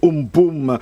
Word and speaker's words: Amphan: Le cyclone Amphan, qui se prononce Umpum, eh bien, le plus